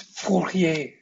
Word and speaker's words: Fourier: riemann because it's german this guy his name is fourier because he's french laplace and other frenchmen